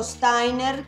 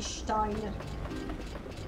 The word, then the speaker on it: Steiner: Ma guarda, io dico Steiner, perché essendo tutta la, la squadra Pluto prevalentemente tedesca come, come nominativi, e I si legge AI, però dipende.